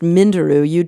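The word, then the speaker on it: Minderoo: research fellow at the I think it's pronounced Mindaroo UA Deep Sea Research Center.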